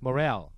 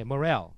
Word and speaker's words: morale: Morale. 애매하게 발음하네요. 네, Morale. 예, Morale 해도 되고 Moral 해도 되죠, Moral. 네네, 네. 그렇죠. 강세가 예. 뒤에 있으니까.